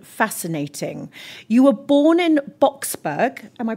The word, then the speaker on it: Boksburg: You were born in Boksburg, am I pronouncing that right?